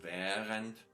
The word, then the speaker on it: während: So you only have the H which is prolonging them. So während und gähnen.